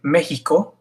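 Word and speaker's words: México: X, same as the J, Mexico.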